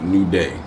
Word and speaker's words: Newdè: Is it pronounced nude or So, it is pronounced nude. Okay. But it's also pronounced new day.